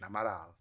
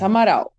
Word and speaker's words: Amaral: Is it the right pronunciation? Amaral. Yes, Amaral.